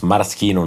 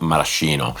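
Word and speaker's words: Maraschino: And by the way, it's pronounced Marosino, not Marcino.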